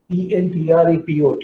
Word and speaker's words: entrepot: And you get trade call, ENTREPOT, is pronounced as entrepot trade. Entrepot trade or entrepot trade.